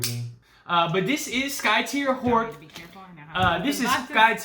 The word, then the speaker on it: Skytear: have but yeah this is going to be Sky tear Sky tears Skye tear okay it's good that's tear like a tear a piece of paper I know but it's pronounced Sky tier oh like a tear yeah okay Sky tier